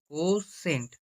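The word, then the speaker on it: cosecant: কোসেক theta কোসেক theta কোসেক theta কে সম্পূর্ণ উচ্চারণ করে কোসেন্ট সি ও এস ই কোসেন্ট সি এ এন টি কোসেন theta কোসেন theta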